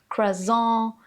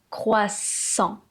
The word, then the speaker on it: croissant: Alors là, j'entends de tout. J'entends "croissante", "croissant", "croissante", "croissant", "croisant", "croisant". Et en effet, ce mot a plusieurs difficultés. La première, c'est le son qui est composé du "C" et du "R". Donc là, il faut travailler la façon de prononcer le "r". Ça, c'est encore une autre difficulté. Le "R" qui se passe ici : "croi", "croissant". C'est pas "kwa", votre gorge doit vibrer.